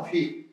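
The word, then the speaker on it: 撝: 자기 겸손함을 제대로 실현해내는 휘겸이라고 읽습니다. 휘. 발휘한다는 뜻으로 봐요. 겸손을 잘 드러낸다.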